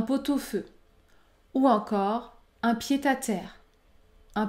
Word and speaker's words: pot-au-feu: jour un pot-au-feu un pot-au-feu j'effectue la liaison et je prononce le son un pot-au-feu ou encore un pied-à-terre